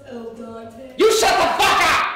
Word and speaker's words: al dente: It's pronounced al dente.